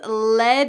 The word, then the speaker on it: let: The third everyday expression is let it slide. Notice the pronunciation at the end of the word let. That t changes to a d.